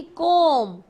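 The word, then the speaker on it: comb: सी ओ एम बी कॉम कॉम इसमें भी silent होता है इसको योर हेयर को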